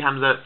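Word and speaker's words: ء: there right this is this is the stop it's what i shut off my throat my vocal cord so this is what hamza does okay now a few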